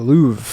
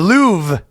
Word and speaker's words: Louvre: The Louv. The Louv. No r. Uh it's silent.